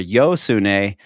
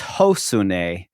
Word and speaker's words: Josune: a Joe or a yo sun and several Spanish people correcting them saying it's hosun that's how you pronounce the J in Spanish but I've seen interviews